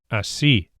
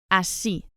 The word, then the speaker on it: así: This word has an irregular stress pattern. The final vowel, the E, is stressed, requiring a written accent over it. Así. Así.